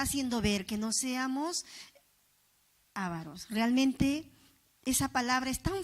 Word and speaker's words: avaros: Ávaros o avaros. Sí lleva la mayor fuerza de voz, ¿no? Ávaros, está bien hablado.